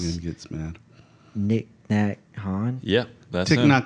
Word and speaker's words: Thich Nhat Hanh: I don't know how to Joe pronounce- Rogan gets mad. Nick Nat Han? Yep. That's Thich him. Nhat Hanh. Yeah. Thich Nhat Hanh.